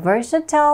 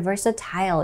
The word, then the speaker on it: versatile: versatile or versatile 이라고 읽을 수도 있고요.